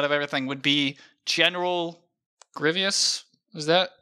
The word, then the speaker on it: Grievous: Just Grievous.